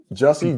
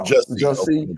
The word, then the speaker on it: Jussie: First of all, I think we mispronouncing his name. I want to say it's Jussie. Juicy. Correct us. I apologize if I'm mispronouncing his name. I think it's Jussie Smollett. No, Jussie. Okay, there we go. I thought it was Juicy.